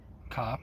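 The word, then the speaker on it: Kopp: According to Tobacco Reviews, Asara is manufactured by COP or Cope, however you pronounce it. Not cohes cop just cop in Germany and it's listed as an oriental blend which I would agree with.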